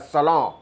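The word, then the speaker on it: salon: Bihar UP में जिसको सैलून कहते हैं, अंग्रेजी में वही सैलून हो जाता है। न का उच्चारण नाक दबा के करना पड़ता है, सैलून।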